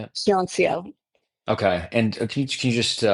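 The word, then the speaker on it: Hyeonseo: yeah, Can we let them know, let people know, like, so Yancio, is that the correct way to say it? Hyuncio.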